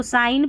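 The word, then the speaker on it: sign: फिर जी देखिए, यहाँ पर जी और एन साथ में रहता है ना, तो जी साइलेंट रहता है, इसको साइन पढ़ते हैं, डिज़ाइन पढ़ते हैं।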